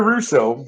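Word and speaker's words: Rousseau: correct spelling uh sean it's r-o-u-s-s-e-a-u okay it's pronounced like which i must be maybe it's french you know that russo all right if you're watching i'm very sorry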